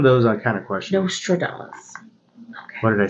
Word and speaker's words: Nostradamus: Nostradamus.